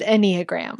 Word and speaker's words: Enneagram: is pronounced Enneagram.